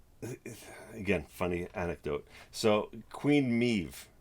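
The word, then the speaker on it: Medb: queen meeve right so i found out her pronunciation is me but this is about after a month of running a game with her in the manuscript of what i was testing and the way her name is spelt is m-e-d-b so i was pronouncing this as queen mediba and i don't know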